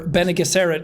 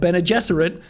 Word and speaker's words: Bene Gesserit: are such a massive, or Bene Gesserit as I was calling them in the book, but Bene Gesserit as they're actually pronounced, which was another thing in the movie.